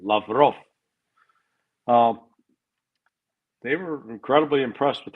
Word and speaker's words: Lavrov: I mean, Sergei Lavrov, Remy Govern emphasis is on the last syllable, Lavrov.